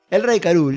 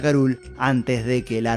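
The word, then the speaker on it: K. Rool: King Karul (I know it’s pronounced like “crul”, which is a play on words from “cruel”, but I got used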